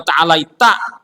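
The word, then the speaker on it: تعاليت: Tabarakta rabbana wa ta'alaita huruf ta bukan huruf kaf. Ini memang ta'alaita karena tabarakta rabbana wa ta'alaik. Nah, pas kunut ta'alaik bacanya juga. Orang ta'alaita bukan ta'alaika.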